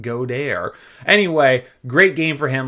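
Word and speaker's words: Goedert: week my man dallas godare last week he went off and yes i know i'm not pronouncing it correctly we're fancy around here so it's pronounced godair anyway great game for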